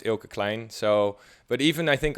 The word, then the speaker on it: Kleijn: Yeah, the thing is, a lot of, especially American people, have difficulty saying Eelke, which is normally it's pronounced Eelke Kleijn.